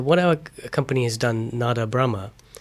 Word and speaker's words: Nada Brahma: And so what our company has done, Nada Brahma. Nada Brahma, could you please just pronounce that again?